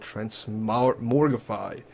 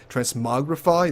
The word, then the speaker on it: transmogrify: of interesting you can actually do something called trans morifi transmogrify there we go that's how you pronounce it where you can put in an